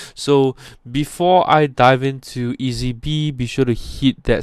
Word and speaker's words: EazyBe: to be talking about today and it's called ezb now ezb is spelled with a z right so e a